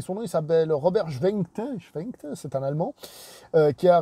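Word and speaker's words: Schwentke: Le réalisateur, j'ai mal prononcé son nom, il s'appelle Robert Schwenkte, c'est un Allemand, qui a réalisé Raid, donc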